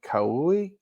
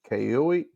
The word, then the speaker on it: Kauai: Kauai, Kauai, K-A-U-A-I. I can't pronounce that. Joey. Sounds like Kauai a pie, right?